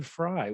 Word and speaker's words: Frey: so yes and last name is fry did i say that right yeah you said it correctly okay because it's f-r-e-y